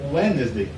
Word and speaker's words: Wednesday: é quarta-feira, em inglês, você nunca vai ouvir esse D no americano pronunciando. Eles comem sílaba. Eles vão falar Wednesday, como se essa letrinha aqui não existisse.